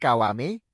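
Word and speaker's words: Kiwami: Karakter untuk namanya adalah Gokudo, tetapi dia memperkenalkan dirinya dan menjelaskan bahwa itu diucapkan Kawame.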